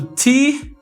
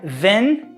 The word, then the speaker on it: than: Esse que de comparativo é o nosso T-H-A-N. Pronúncia than. Than. Than. Olha só essa boca aqui, ó, de a. Than. Não é then, é than. Then é aquele então.